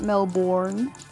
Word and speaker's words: Melbourne: any like special names with Melbourne it's just Melbourne and then noun Larry yeah it's Melbourne everyone always like everyone don't even worry about it's not a u issue everyone pronounces it Melbourne but I was thinking like born like bloodborne